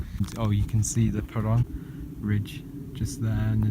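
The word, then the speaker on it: Parâng: hotel for the night, ready to start the Parung, as I now know it's pronounced, which is the next range I do.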